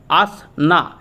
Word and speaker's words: আসনা: ঘূর্ণিঝড় অর্থাৎ cyclonic storm যেটার নাম হচ্ছে আসনা এস এন এ প্রোনাউন্স কি করা হবে এটা আসনা এটা দিয়ে দিয়েছে এটা